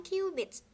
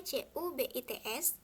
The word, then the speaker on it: cubits: Orang-orang Mesir hanya menggunakan satuan cubits. Tulisannya C-U-B-I-T-S, tapi jangan dibaca cubit ya, dibacanya cubits.